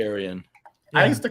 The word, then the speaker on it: Arion: Is it Arion or is it Orion? It's not Orion. No, it's Arian. It's Arion. I would say Aryan.